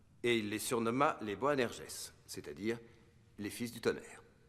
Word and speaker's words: Boanerges: Les Bonergies... C'est quoi? Bonerges... Ah, ça se prononce Boanerges.